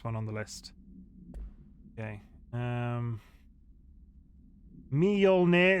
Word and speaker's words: Mjolnir: Mjolnir isn't even close, but the me and the yol are one syllable. Mjol. Mjol? Mjol. Mjolnir. Right? Mjolnir.